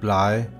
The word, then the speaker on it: blege: This sentence is pronounced bløde, blege, bøgeblade.